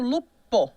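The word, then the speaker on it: loup: p vira B né e em francês tá escrito um p ali tá mas a pronúncia é Lu você não fala esse P né outro exemplo fogo né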